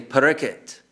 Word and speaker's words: Parikshit: They don't say Parikshit Maharaj, they say Parikit.